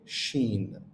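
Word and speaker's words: شين: it as is is same like when we say she in English but without the e so she but without the e is this letter sha or Shen okay Sheen until now I think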